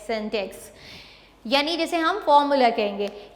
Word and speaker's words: syntax: जो सिंटेक्स है, यानी सिंटेक्स के प्रोनाउंसिएशन तो ये शायद आपको ऐसे लग रहा हो, लेकिन इट is called सिंटेक्स, SYNTAX, सिंटेक्स, यानी जैसे हम फॉर्मूला कहेंगे.